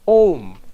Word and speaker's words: Om: so it must be aom now i know more no it's wrong the rules of sanskrit grammar say when you put a and u together it becomes o o so when the